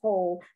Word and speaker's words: whole: catholic church ho ho you pronounce the h but you don't pronounce the w and it has two spelling well this one is whole this is complete and